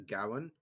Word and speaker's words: Gawain: Whenever I see Gawain, I always pronounce it as Gowan because my English Right. teacher drilled it into me. That's a proper Welsh pronunciation. That's how she sounds. She's an old lady. It's pronounced Gowan.